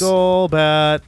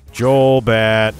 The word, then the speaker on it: Golbat: If you guys pronounce it Golbat, then you should admit that it's GIF. That's what I think about that. Uh-huh. If you want it to be GIF, then it's Jolbat. All right, gone.